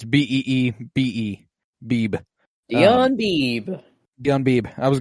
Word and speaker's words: Beebe: It's Beebe. Beebe. 𝗀𝗏𝗏𝗏𝗏. 𝗀𝗏𝗏𝗏𝗏. I was going to go Debo Beebe.